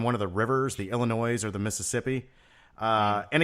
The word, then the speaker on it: Illinois: no silent s it's Illinois it's if it was Illinois then it would be ippi all right there's no silent s's in States uh but if you